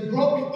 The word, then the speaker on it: grok: But a pronunciation would probably go something like this. Grok. You can give it a go. You've looked that other one that Jeff told you, so try grok. Grok. Grok. Yeah, there's no vowel sound in it.